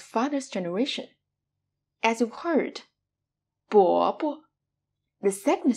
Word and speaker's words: 伯伯: As when you pronounce the neutral tone, you lose this stress. The next one we have, 伯伯, 伯伯, which means uncle, especially used to address an older man of one's father's generation.